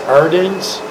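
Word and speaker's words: Ardennes: AR a r d e n n s ardens ardens okay you familiar with the ardens yeah okay here's one right here from Miami Florida where had the US 28th Infantry Division been engaged before the Arden's offensive with theion where where have the TW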